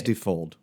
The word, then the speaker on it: Defold: I think it's Defold. Defold. Okay, so it's like Unfold, but Defold.